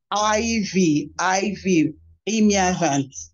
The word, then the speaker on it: Ivie Imiavan: a little bit uh, to pronounce that name, Ivie. You can also call me Ivie, Imiavan.